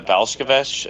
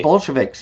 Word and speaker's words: Bolsheviks: what 60 million Christians in the Belchovich. Is that how you say it? Sorry. I Bolsheviks. Yes.